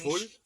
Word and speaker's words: schwul: Yeah, it's spelled ICH. Binish. Schwul.